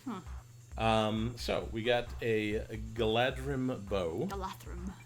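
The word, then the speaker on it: Galadhrim: So we got a Galadrim bow. Galathrim. That DH character is pronounced sort of halfway between a D and a TH.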